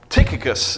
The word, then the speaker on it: Tychicus: Tychicus is the best pronunciation that I could find, like a tick.